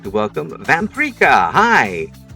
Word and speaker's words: Vamperika: Uh my name is Vampria, pronounced like paprika because I am a spicy little vampire.